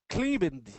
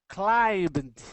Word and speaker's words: climbed: So we actually pronounce that one just like climb, and then with a little t at the end.